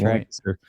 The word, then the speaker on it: Lancaster: So, and then also Lancaster, which nobody but people in Pennsylvania know how to pronounce that word. It's that's Lancaster.